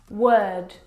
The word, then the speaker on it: word: world and work now you're probably mispronouncing these words because you are looking at the O R and you're trying to pronounce the vowel sound or like in door but this is incorrect the vowel sound is actually as in her work world word this is your eyes